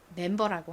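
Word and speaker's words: member: 조지 그룹의 구성원 회원을 멤버라고 하죠 그 멤버를 이렇게 씁니다 한국식으로는 리을 받침이 없이 그냥 멤버라고 하지만 영어에는 이렇게 r이 들어갑니다 그래서 리을 받침을 넣어서 발음해 주셔야 합니다 한 번만 더 하고 넘어갈까요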